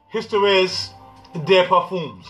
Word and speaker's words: Histoires de Parfums: to this house of Histoires de Parfums, okay? I'm trying to pronounce this correctly. It looks like it says Histories, but it's not. Histoires de Parfums, okay?